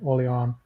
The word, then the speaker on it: Orleans: how do you pronounce I pronounce it orans but um there's no definitive way so Ben on the team he often pronounces it the the more French way o on yeah so it really just depends where you're from I I'm always scared